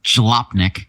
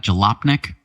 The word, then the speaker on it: Jalopnik: So this was an interesting article we have a link to from Jalopnik. Is that how you pronounce that? Jalopnik? I believe so. Yeah, sure, Jalopnik.